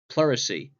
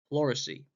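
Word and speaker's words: pleurisy: as he died of a disease known as pacy and that's spelled p l e u r i s y pesy pesy and it's a disease that affects the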